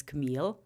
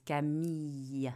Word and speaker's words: Camille: Americans say your name so in in American it's Camille yeah uh but my name is French is Kami Kami yes I go somewhere